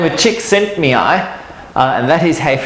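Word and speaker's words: Csikszentmihalyi: so there's a psychologist by the name of chick sent me i uh and that is hey pronounce it yes who is a very who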